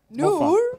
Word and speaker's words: Noor: Noor.